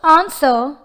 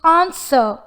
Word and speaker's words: answer: The word answer has the letters W and also R. But when we pronounce it, the approximate consonant sounds W and R are unheard. It is just answer but not answer.